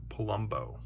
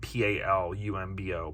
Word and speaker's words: Palumbo: any names and Carmen Palumbo like Colombo but p-a-l-u-m-bo Palumbo I'm gonna go ahead